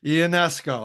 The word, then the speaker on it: Ionescu: People don't know how to say it. Ionescu.